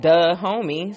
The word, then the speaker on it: Dahomey: I'm like okay well that should be easy because it sounds like duh homie so the homie the